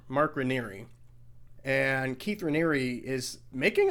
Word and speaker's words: Raniere: It's spelled like Rainier, but it's not pronounced Rainier. Mark Raniere.